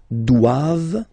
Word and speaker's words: doivent: All right, and then the last one, ils doivent. So same thing, classic ending for the plural form, ent here, okay, but then you don't pronounce it.